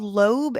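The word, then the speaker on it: Loeb: no so so um it's called lobe and lobe it's spelled l oeb it's a last name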